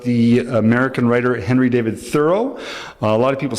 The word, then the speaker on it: Thoreau: It's about the American writer Henry David Thoreau. A lot of people say Thoreau or Thoreau, but I went down to Concord, Massachusetts, and